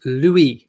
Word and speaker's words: Louis: you spelt it right it's pronounced Louis as in Lou we do we okay everyone